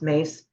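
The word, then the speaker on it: Myss: had seen Carolyn mace and I love Carolyn mace um M SSS my SS spell but it's pronounced mace and I watched her in the early years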